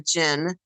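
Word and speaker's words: djinn: me was absolutely a gin entity it's a gin for those of you who don't know that's spelled d-j-i-n-n or j-i-n-n and they speak about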